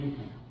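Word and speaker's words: Никон: Okay, and this guy, patriarch, archbishop, Nikon, spelled as Nikon. Nikon, it's pronounced in Russian Nikon.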